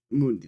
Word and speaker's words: Mundi: And for Mundi Mundi, that's how you pronounce it.